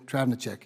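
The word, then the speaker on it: Travnicek: Dr Driving a check we call her Trav you all will eventually it's easier to pronounce and spell but it is Dr Andrea travenerchuk she was appointed by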